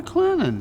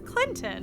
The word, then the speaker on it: Clinton: you marvin welcome to clennan clinton i thought it was clinton well there is a t in it but around here we say where the t is silent and sweet how many industrial sites